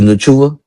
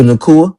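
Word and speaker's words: Nacua: Puka Nua. Did I say his name right? Nope. Puka Nakua. Puka Nakua.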